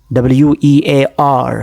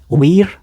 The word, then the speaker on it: wear: WEAR. How do you pronounce this word? We're? You're wrong. Come on. How do you pronounce it correctly? It's wear.